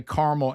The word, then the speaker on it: caramel: You know, I I say caramel and caramel according to what the sentence is.